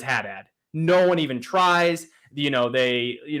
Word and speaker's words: Haddad: too hard to say it's haddad it's just the word hat and then dad we're just gonna stick with that and ironically no one says haddad no one even tries